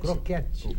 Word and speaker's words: croquete: Croquete. Crocrete. O Carlos Baldi pronuncia Crocrete. É especialidade. É croquete. É croquete.